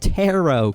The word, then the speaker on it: tarot: Tarot cards are actually pronounced tarot cards, not tarot cards. It's funny because of the spelling.